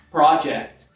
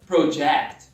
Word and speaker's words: project: Se é um substantivo, projeto, a sílaba tônica é a primeira. Project. Repeat. Project. Já o verbo projetar, a sílaba tônica ela flutua da primeira para a segunda sílaba. Project. Project. Novamente é um fenômeno linguístico